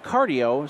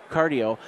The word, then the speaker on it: Quardio: and you're with uh cardio spelled with a q q a r d IO cardio and uh and hi